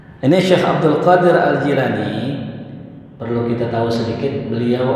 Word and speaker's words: Jailani: Abdul Qodir al-jailani ya Jadi yang betul dibacanya gila nih ya kalau Jaelani kayaknya orang Betawi ya jilat ya ini Syekh Abdul Qadir Al Jailani perlu kita tahu sedikit